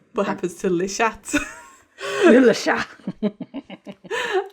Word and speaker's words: Le Chat: Le Chat. There's no T.